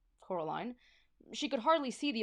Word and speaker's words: Coraline: They kept saying Coraline, not Caroline. Not Caroline at all.